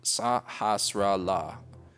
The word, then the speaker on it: Sahasrahla: Sahasrahla.